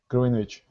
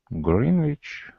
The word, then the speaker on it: Greenwich: So the W. Wow. Where's the W?